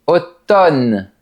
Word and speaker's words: automne: On ne prononce pas la lettre M. On dit automne.